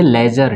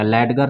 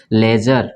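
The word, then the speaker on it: ledger: यहाँ पे जी के पहले डी आएगा तो इसको क्या पढ़ेंगे, लेजर, डी साइलेंट हो जाएगा, लेडगर नहीं पढ़ेंगे, इसको क्या पढ़ेंगे, लेजर, ठीक है।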